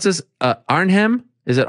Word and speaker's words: Arnhem: glory collision three it's tell me how to pronounce this uh arnhem is it arnhem yeah it's gonna be in arnhem in the